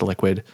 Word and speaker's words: LQWD: And then another one which is uh LQWD which I think is liquid uh is pronounced liquid.